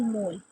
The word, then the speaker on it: mol: इट is abbreviated as मोल, मतलब इसको हम किस तरह से प्रोनाउंस करते हैं? मोल से, MOL मोल।